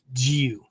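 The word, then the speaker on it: jiyuu: English language characters right you might write g i y u u uh that just tells you to hold the U uh sound twice as long okay um but that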